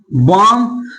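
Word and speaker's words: balm: है, तो बताइए कि अगर एल के बाद 4 लेटर है, क्या है, अगर एम आए या एफ आए या के आए या डी आए तो वहां पर एल का उच्चारण नहीं किया जाता।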